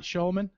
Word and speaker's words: Schulman: Did I pronounce that right, Schulman?